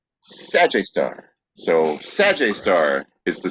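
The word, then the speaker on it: Sgr A*: after it or sgr a star which is pronounced sag star so sag star is the super massive black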